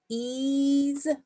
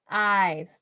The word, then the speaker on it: eyes: either so but then i also know that a y can be pronounced so let's try it that way ben has brown eyes but i have blue eyes hmm does that make sense yes it does so that is the word eyes the big picture should